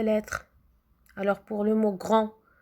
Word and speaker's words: grand: alors pour le mot grand grand là je prononce le gr à n est pour le d je prononce pas le d quand je dis pas